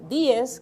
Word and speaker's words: Díez: Y en muchas familias del Ceibo, que era de donde ella provenía, Manuela Díez Jiménez, Díez, que es como se debe de pronunciar, ella dirigía realmente una